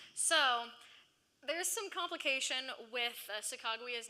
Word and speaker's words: Sacagawea: So we do know that even though he couldn't say her name, he spelled it exactly like he heard it.